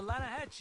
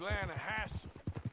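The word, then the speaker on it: Lannahechee: the right here I rode down to the Lana Hetchy River I caught some beautiful steelhead trout you mean the Lana no no no the Lana hatch it runs right near here yeah but it's pronounced Lana Hass why is everything in English set differently than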